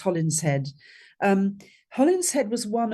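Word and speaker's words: Holinshed: well people call him hollingshed but it's a Midland's name and it's actually pronounced holling head um Holland head was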